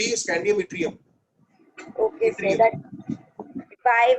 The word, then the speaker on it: yttrium: That what is it pronounced and named? Boron, aluminium, gallium, indium, scandium, yttrium. Group 3 is scandium, yttrium.